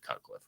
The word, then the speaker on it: Cutcliffe: well his name uh last name rhymes with rutcliffe and his first name is the same as mine it's David cutcliffe right my name's actually